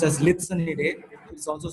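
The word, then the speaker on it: Lycaenidae: And the fourth one is pronounced as Litsonidae, which is also called as blues.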